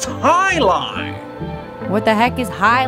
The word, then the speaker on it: jai-alai: but heck is jai-alai it's pronounced Highline what the heck is